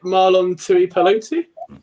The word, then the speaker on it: Marlon Tuipulotu: Yeah, I'm not even trying to pronounce the rookie's name. Is it Marlon Tuipulotu?